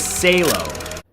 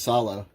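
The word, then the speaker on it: Salò: Number nine is Salo. It's pronounced solo.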